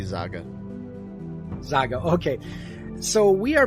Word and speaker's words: Zaga: Joining me today is a guest, or Zaga, is that how it's pronounced? You can just call me Zaga.